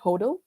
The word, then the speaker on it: HODL: It's spelled as HODL. We call it HODL.